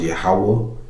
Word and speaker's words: Yahawah: Lord, all capital letters is pronounced Yahawah. Okay, that's the name of the Heavenly Father, not Jehovah or Adonai.